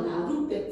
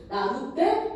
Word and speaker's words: 나룻배: 따라서 이 시옷을 이제 디귿으로 바꾸는 교체가 일어나가지고 최종적으로 나룻배. 자, 이 발음도 이제 가능한 거죠. 나룻배, 나룻배 이제 이런 발음이 가능한 거죠.